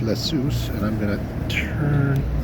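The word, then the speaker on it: Ἰησοῦς: Um and uh the name for Jesus in that Greek is uh I believe it's pronounced Iesous, and I'm going to turn this around here.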